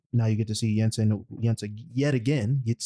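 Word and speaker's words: Yinsen: He talks to to Yansen. That's not how you say his name, but whatever. Yeah, Jensen. There we go. Yensen.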